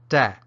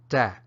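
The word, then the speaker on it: တတ်: verbs and it's pronounced dad which sounds like the word tap but with the final piece ound left off and an abrupt ending and that's the stop tone in Myanmar dad now lets you look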